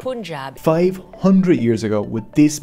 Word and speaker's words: Punjab: Sikhism, pronounced like Sikh, not Sikh, started here in Punjab, pronounced Punjab, not Punjab. Punjab.